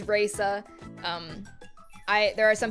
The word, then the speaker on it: Reisa: I fear a lot of people will say uh Rea and that pisses me the off. Um so it is Raa.